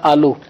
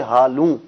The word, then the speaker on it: ہالوں: تلفظ کروا ہالوں جی۔ اس میں ہے کہ بعض لوگوں نے اس کو سمجھا آلو، آلو نہیں ہالوں، آلو نہیں ہے، ہالوں جی شادی حال کی جمع